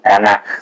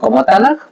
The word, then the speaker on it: Tanakh: Tanakh suena así. No suena a veces lo pronuncian como Tanakh, pues respetamos cualquier pronunciación, no hay problema.